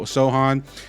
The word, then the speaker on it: Sochan: is Jeremy Jeremy Sohan it's spelled like sochan but I've been learning it's so Sohan um people kind of